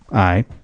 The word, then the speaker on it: Mitski: when I look at this, I say Mitski. That's what right. Could also be Mitski, Yeah, it could be. but it's Mitski.